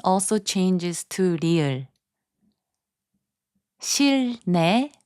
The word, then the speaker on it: 실내: 실내, which means indoors, is pronounced as 실내.